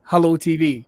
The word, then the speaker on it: HelloooTV: uh it's hello tv i noticed these extra o's on that i am pronouncing it right as hello tv yeah it's more creepy